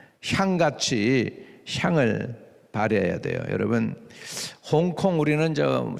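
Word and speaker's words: 香港: 중국 사람들은 뭐라고 부르는지 아세요? 그 중국 발음을 잘 못하니까 영국 사람들이 홍콩 그런 거예요. 중국 발음은 샹캉입니다. 샹캉이 뭐 샹 할 때 향수 있죠, 여러분.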